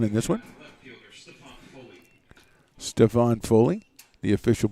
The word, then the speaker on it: Stephon: Stephon Foley, the official pronunciation.